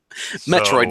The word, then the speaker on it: Metroid: a switch day one starts with m rhymes with petroid Metroid for those that can't make